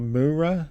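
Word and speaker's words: Mureau: And he's also in a band called Mure, I think that's how you say it, m u r e a u.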